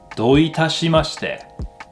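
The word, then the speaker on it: どういたしまして: There's a sentence in English that people sometimes use to help remember how to say you're welcome in Japanese. And that sentence is don't touch my mustache. Don't touch my mustache. どういたしまして Don't touch my mustache. どういたしまして Don't touch my mustache. Kind of sounds similar.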